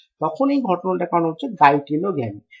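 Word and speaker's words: geitonogamy: এই ঘটনাটার কারণ হচ্ছে গাইটেনোগ্যামি। তো গাইটেনোগ্যামিকে অনেক সময় জাইটেনোগ্যামি মানে বুর্গের জ হিসাবে উচ্চারণ করা হতে পারে।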